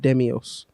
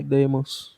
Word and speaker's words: Deimos: Yeah, Mars has 2 moons, Phobos and Demios. Okay. I think Deimos? Oh, that's spelled D-E-I. Deimos.